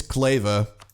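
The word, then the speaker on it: Kleve: as well I mean I'm pronouncing it like clever but I'm not even sure of that it's correct said I don't think I've ever heard of cleave that can be it it's clava you know what that makes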